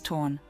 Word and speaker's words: ton: And yes, according to my research, it's spelled to O N, but said as torn.